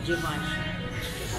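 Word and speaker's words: Givenchy: anong pronoun siya gaven alam natin gaven Anong pronunciation? Givenchi. Jivanchi. Givanchi. Yes sir. Jivanchi.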